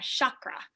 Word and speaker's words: chakra: lead you through a chakra or chakra however people like to pronounce it i've heard both normally i'll say chakra but the sh sound is just fine chakra meditation and if